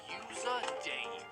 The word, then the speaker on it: U53RDV: Eventually he comes up with U53RDV, which is pronounced User Dave.